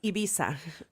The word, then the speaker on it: Ibiza: blah blah Roman Barcelona Ibiza how do you say the island we're going to Ibiza or as they say it in Spain Ibiza that is what you